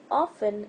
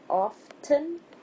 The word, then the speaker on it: often: Often, it could be pronounced both ways, often and often.